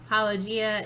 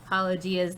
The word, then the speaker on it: Paulogia: Paulogia's name wrong almost all the time. You pronounce it wrong. I want to say Paulogia. That's not like right at all. And so I'm sorry, Paula. It's Paulogia. Yes.